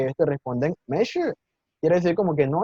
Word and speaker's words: 没事: Mei shi, la primera sílaba entonces está en segundo tono, mei, y la segunda en cuarto, shi, mei, shi.